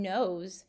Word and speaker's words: knows: important that we remember when nose is spelled K and OWS with the silent K it means to have